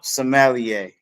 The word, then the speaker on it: sommelier: Oh, sommelier.